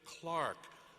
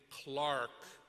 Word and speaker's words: Clark: I love returning to Rhode Island to hear my last name, Clark, pronounced like the timepiece, clock.